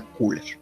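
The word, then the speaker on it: Köhler: El experimento de Kohler o Kuller. Lo digo así porque él es alemán, entonces tal vez la mejor manera de pronunciarlo sea Kuller, ¿sí?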